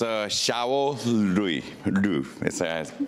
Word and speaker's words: Xiao Liu: Our next speaker is Xiao Liu. Do I pronounce correct?